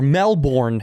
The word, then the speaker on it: Melbourne: We shot in Melbourne, or Melbourne, as Americans say it.